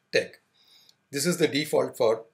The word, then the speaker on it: TeX: Although it has the spelling te x, it is pronounced tech.